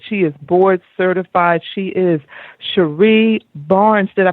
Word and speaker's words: Cherie Barnes: She is Cherie Barnes. Did I pronounce that correctly?